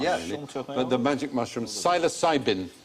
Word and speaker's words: psilocybin: but the magic mushroom psilocybin that was a silent p sinus interesting experiments being